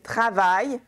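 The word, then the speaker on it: travaillent: Très important, remember, E-N-T is silent at the end of a verb, OK? And the S, the final S here is silent. Donc, elle travaille au café.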